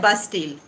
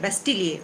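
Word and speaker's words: Bastille: इसको कहा जाता है बास्टील। अब इसको आप बास्टील कह सकते हैं, बेस्टील कह सकते हैं, लेकिन अगर आप फ्रेंच इसका प्रोनाउंसिएशन पूछेंगे तो वो है बेस्टिलिए, उसको बोलते हैं बास्टिलिए।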